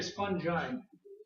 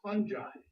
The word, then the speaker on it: fungi: I do love words goes from the hard G to the soft G from the singular to the fungus okay same thing happens